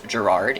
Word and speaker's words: Gerard: Many other characters do say his name as Gerard. It's spelled Gerard. It's only John that says Gerard like this, and as he's reading the statements to us, it is pronounced like Jared.